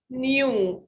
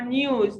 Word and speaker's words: new: No here, this word is a common mistake. Some people call it new or news. No, it's new. My no friend, my no house. No, no. Okay. I listen to news. We don't say news. This is a common mistake, so be careful about this common mistake, okay?